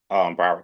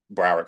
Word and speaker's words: Broward: Broward College. But at the time, it was community college, but it's called Broward College now. What's it called? Broward College.